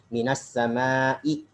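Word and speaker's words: من السماء: Minas sama'i. Kenapa dibaca minas sama'i? Ya, karena dia huruf min.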